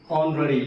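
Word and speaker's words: honorary: ठीक है, लफ्ज है एन ऑनररी, एच जो है वो साइलेंट है, बेसिक वॉवेल ओ इस्तेमाल किया गया है, तो हम इसको एन ऑनररी पढ़ते हैं, ए ऑनररी इस्तेमाल नहीं किया जाएगा।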